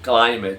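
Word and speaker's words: climb: जिसकी मीनिंग है चढ़ना ये क्लाइम है बी साइलेंट है या जो रूल है हमारा अगर आखिर में वर्ड के में किसी भी लज के आखिर में बी होगा और उससे पहले एम आए तो बी साइलेंट हो जाएगा बी का हमारे पास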